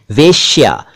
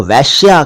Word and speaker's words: वेश्या: इस शब्द को ज्यादातर लोग वैश्या कहते और पढ़ते हैं, और बल्कि लिख भी देते हैं वह पर 2 मात्राएं लगाकर, यानी ए की मात्रा लगाकर, जबकि यह है वेश्या।